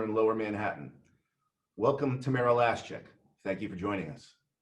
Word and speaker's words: Lashchyk: Yes, it's Lashchyk. My ex-husband used to say, like the last check in your checkbook.